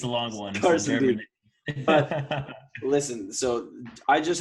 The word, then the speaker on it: Karstendiek: Is that how you spell it? How do you say it? Karstendiek. It's a long one. Karstendiek.